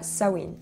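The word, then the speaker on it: Samhain: où il y a sawin oui alors je sais que les prononciations ne vont pas avec comment ça s'écrit j'y peux rien donc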